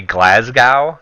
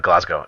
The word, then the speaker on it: Glasgow: in relationship to Glasgow they go all mate it's Glasgow I was like oh excuse me it's glasgow glasgow glasgow and so from that point on I've never forgotten glasgow glasgow it's pronounced glasgow and bro that has